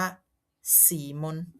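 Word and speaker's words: Simon: แล้ว ก็ สุด ท้าย สีมอน ออก เสียง ว่า สีมน แต่ อย่าง ว่า นะ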